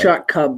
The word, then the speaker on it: Shot Club: So if you can It's subscribe, pronounced Shot Cub, but you spell it with an L. with an L, Shot Club. It's a silent L.